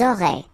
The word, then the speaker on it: auraient: Elles auraient. And then look, if you've got A-I-E-N-T, then phonetically it goes like aurait.